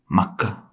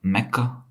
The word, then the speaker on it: Mecca: a little town makah as an Arab says it makah not like the English man pronouncing that word is Mecca the Arab says it as makah now little town where